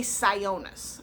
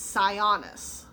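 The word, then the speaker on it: Sionis: bit of a pet peeve thing how they pronounce his name in the movie they say cyonus it's like it's scionus it's o n scion sidebar that but roman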